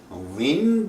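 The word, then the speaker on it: وین: And in contrast, Win Baharan, the aleph in between is not pronounced. So it goes win.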